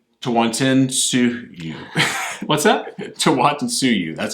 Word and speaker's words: Tawantinsuyu: Tawantinsuyu.